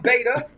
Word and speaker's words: Vada: I'm Vada, that rhymes with Savior, so I can do that, man.